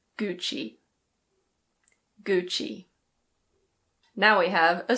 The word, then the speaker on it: Gucci: Here's another Italian brand. In Italian it's Gucci. Gucci. But in English we say Gucci.